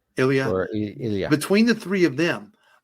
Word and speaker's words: Ilya: Ilya. Ilya.